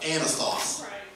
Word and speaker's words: Anathoth: I want you to buy the field of anathoth and that is how you say it I